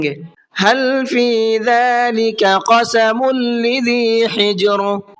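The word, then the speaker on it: لِذِي: قسم لذی حجر، لذی اس لفظ کے اندر عام طور پر لوگوں سے غلطی یہ ہوتی ہے اس کو لذی پڑھتے ہیں، حالانکہ یہاں پر دیکھیے آپ لام کے نیچے زیر ہے، ہجے کریں گے تو اس طرح سے ہوگی، لام زیر لی، ذالیہ زیر زی، لذی، لذی نہیں ہے بلکہ لذی ہے۔ حجر، یہاں پر ہا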